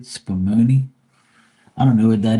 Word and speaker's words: spumoni: Spumoni, that's how you say it, Spumoni.